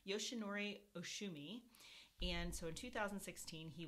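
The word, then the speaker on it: Yoshinori Ohsumi: i could never quite get it but it's yoshinori oshumi and so in 2016 he won the nobel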